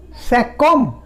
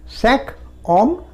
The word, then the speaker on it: cinq hommes: এই কিউটার পরে যদি আবার একটা ভাওয়েল আসে, কিউটা কয়ের সাউন্ড দিচ্ছে, তো তাহলে আমাকে বলতে হবে cinquom, 5 men, cinquom, cinquom, cinq hommes, cinquom, 5 enfants, 5 enfants, 5 enfants, 5 enfants।